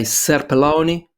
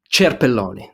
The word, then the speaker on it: Cerpelloni: to introduce myself CU do you want the Italian pronunciation or the the uh English pronunciation so sometimes I say selon which doesn't you know I don't identify with that um Cher Pelon that that's the Italian right pronunciation but yeah I don't